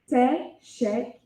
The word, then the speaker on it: teşekkürler: Teşekkürler. Teşekkürler.